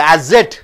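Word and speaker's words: asset: அசட் அசட் அசட் ஏக்கு அப்புறம் double S வரும்போது ஜெட் ஆக மாறுகிறது.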